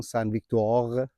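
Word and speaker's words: Sainte-Victoire: این نقطه این کوه سن ویکتور یا همون سن ویک دوغ اینکه خیلی روش اصرار دارم چون خیلی طول کشی یاد گرفتم تلفظش اینو به حساب اینا رو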